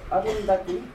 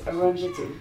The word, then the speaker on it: Arundhati: If you want to try to pronounce it correctly, it's Arundhati. А если правильно, то Арундати. But most people pronounce it incorrectly as Arundhati.